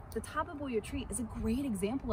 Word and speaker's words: Tabebuia: So it's four syllables, not three, like I try to make it. But the Tabebuia tree is a great